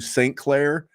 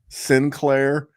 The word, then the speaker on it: Sinclair: I jumped on with Scott aka Jax Falconee from the Undropables and and and we did he he called you St. Claire as opposed to Sinclair.